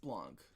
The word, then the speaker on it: Blanc: I believe it's pronounced Blanc. Some people say Blanc, some people say just Blanc. Blanc? Because it's French, and Old French, they pronounce the C. New French, they do not.